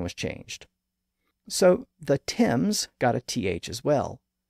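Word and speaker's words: Thames: the English River the Tims of course it's spelled th a m s even though it's pronounced with a simple T sound the word word has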